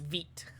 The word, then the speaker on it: Vite: It's pronounced vit.